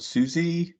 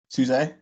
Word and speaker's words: SUSE: people kill me but i call it susie i think linux um there's actually uh suse there we go it's uh they have